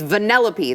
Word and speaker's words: Vanellope: about yesterday this is I think I was pronouncing the name wrong I I believe it's uh uh Vanellope I mean I don't know what these weird drag names I don't know how to it's Vanellope that's supposed to be very cute